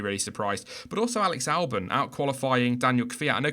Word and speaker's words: Albon: Or Albon. Albon, as Crofty calls him. It's Albon.